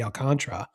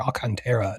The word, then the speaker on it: Alcantara: And I've got the Tigers adding to the rotation getting Sandy Alcantara or Al Cantera depending on how how you pronounce it.